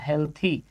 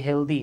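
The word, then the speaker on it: healthy: ওয়াই থাকতে পারে যেমন হেলথি আমরা অনেকে এটাকে উচ্চারণ করি হেলদি নট হেলদি হেলথি ওয়েলথি এরকম আর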